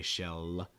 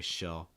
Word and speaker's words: shell: end of the word you can use the dark l sound you don't need to say shell you'll need that la you just say shell shell using a dark l just kind of